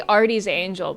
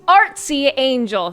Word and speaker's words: Artsy Angel: I always want to say Artie's Angel, but it's Artsy Angel.